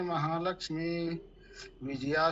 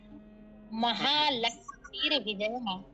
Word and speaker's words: महालक्ष्मीर्विजया: महोदय अत्र मार्गमस्ति, अग्रे विरजया उच्चारण भवेत्। हाँ, महालक्ष्मीर्विजयः महालक्ष्मीर्विजया। महालक्ष्मी विजया सर्वतः स्थिता। लक्ष्मी नास्ति, लक्ष्मीर्विजया। लक्ष्मीर्विजया। अस्तु, जो रकार है वो मकार पे आ जाएगा।